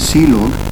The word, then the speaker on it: clog: the last one is clog which is pronounced as c log and this is used